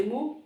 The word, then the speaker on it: Mu: Some people say Mu, I am used to saying Mi.